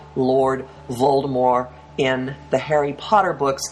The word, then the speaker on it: Voldemort: shape now like Lord Voldemort in the Harry Potter books and yes JK rling recently said the T at the end of his name is not pronounced you do not have